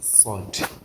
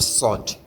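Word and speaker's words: صاد: pronounce sin is how you are going to pronounce sod but the difference is that you are going to make sure you close your mouth with the pronunciation of sword.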